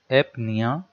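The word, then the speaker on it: apnea: एपनिया, ए मतलब with not या without, निया मतलब यहाँ पे ब्रीदिंग हो जाएगा, यहाँ पे पी साइलेंट है, अगर इसमें पढ़े तो निया हो गया।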